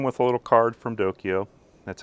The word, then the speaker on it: DOKIO: now it came with a little card from dokyo that's how you spell it d-o-k-i-o and i will and and by